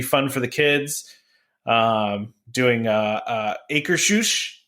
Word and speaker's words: Akershus: Doing Akershus, right? Trevor, that's how you say it correctly? Akershus.